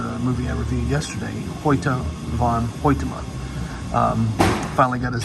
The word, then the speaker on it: Hoyte van Hoytema: And the cinematographer is the same gentleman who did Ad Astra, a movie I reviewed yesterday, Hoyte van Hoytema. Finally got his name pronounced correctly.